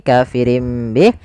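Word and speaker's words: كافرٍ به: Bih awalnya kafirin Bih karena dia ganti suara nunnya kafirin Bih diganti dengan huruf mim kemudian ketika kita melafalkan ini kafirim Bih itu sebenarnya ada dua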